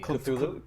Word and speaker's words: Cthulhu: Cthulhu. Generally, Cthulhu.